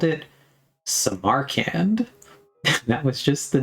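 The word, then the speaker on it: Samarkand: No, you're saying you're still saying Sam R can. The weight is on the Sam just say it like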